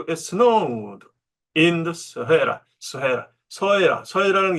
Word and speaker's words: Sahara: 여기 서해라. 어릴 때부터 사하라 그랬는데 이제 정확한 발음은 서해라.